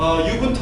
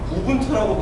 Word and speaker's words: 우분투: 참고로 유분투 아닙니다. 우분투라고 발음해 주세요.